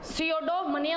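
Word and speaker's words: pseudomania: पी जो है इसमें साइलेंट रहेगा, सियोडोमनिया हो जाएगा, मनिया हो जाएगा।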